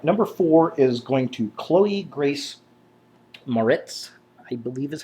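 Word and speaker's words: Chloë Grace Moretz: All right, number four is going to Khloe Grace Maritz, I believe is how it's pronounced.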